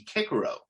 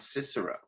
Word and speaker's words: Cicero: And, you know, in Latin, actually, a C is pronounced like a K. So if you were to pronounce the great Roman orator and politician correctly, it would be Cicero, not Cicero.